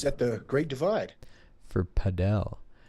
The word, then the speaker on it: padel: Padell House. I think it's pronounced Padell, but there's this sport.